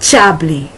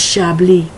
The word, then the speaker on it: Chablis: They do not realize that that word, such as Chablis, it's not Chablis, it's Chablis, is pronounced with more of the SH sound.